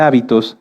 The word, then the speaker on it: hábito: muchas definiciones de hecho si cambiamos el acento de la palabra hábito lleva acento en la a se refiere a esto a nuestras costumbres y si lo cambiamos hacia el final es habitó que viene de habitar fíjense que como en